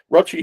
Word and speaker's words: Rochi: Rochi, whose name rhymes with crotch.